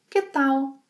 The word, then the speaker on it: que tal: One of the most common expressions is que tal pronunciation here in Brazil most people say ta o que tal que tal useal to ask how